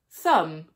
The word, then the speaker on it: thumb: Many words that end in MB or MN do not pronounce the B or the N. For example, lamb, thumb, hymn, solemn, autumn.